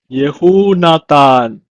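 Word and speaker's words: יהונתן: It's pronounced in Hebrew as Yehunatan.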